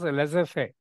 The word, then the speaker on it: laissez-faire: They say it is not, you have to pronounce as laissez-faire.